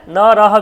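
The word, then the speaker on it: নরঃ: দেখুন নর নর মানে নরহা বিসর্গ এটা বিসর্গ যুক্ত হয়েছে একবচন অর্থাৎ নর দ্বিবচন আছে নর বহুবচন আছে নারাহা অর্থাৎ এখানে দেখ নারাহায বিসর্গার জন্য হ এর মত উচ্চারণ করছি মনে রাখার জন্য তাহলে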